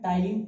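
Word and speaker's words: ptyalin: क्या बोलूंगा मैं, टाइलिन। पी साइलेंट होता है इसके अंदर।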